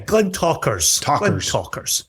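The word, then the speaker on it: Glentauchers: Glen Tauchers? How do you say that? Yeah, Glen Talkers.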